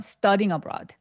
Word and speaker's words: studying abroad: studing abroad 아니고 studing abroad라고 둘 다 강세를 주셔야 돼요. 하나 더 들어볼까요? Some scholarships studing abroad studying abroad 하면서 studying abroad 아니고 studying abroad 하면서 둘 다 강세를 주고 있어요. 또 들어볼까요? 자, 들으세요. 어, 이분 딕션 너무 좋죠. 예. 미 오바마. Studing abroad. Studing abroad. 둘 다 강세를 줘야 돼요. 예.